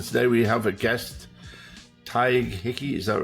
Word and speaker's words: Tadhg: And today we have a guest, Tadhg Hickey. Is that right? Am I saying Beautiful. that right? Yeah, it's beautifully pronounced.